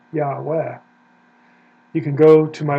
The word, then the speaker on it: Yahweh: It doesn't have Yeh, it's not Yeh like short for Yehovah, it's Yah. Now, if you want to know about the second syllable, why it's Veh, or at least that's the best guess, Yahweh, Yahweh, you can go to